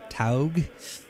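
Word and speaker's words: TAOG: Yeah, T-A-O is Tau, so Taug.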